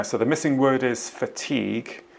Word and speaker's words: fatigue: the missing word is fatigue if you look at that word the spelling of it you can perhaps understand why somebody might pronounce it fatty goo all the mispronunciations in